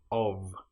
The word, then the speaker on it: of: One important example that you should know about is the word of, which is O F. But in this case the f is pronounced like a v. If we have o ff that then is nonvoiced but the f in of is voiced.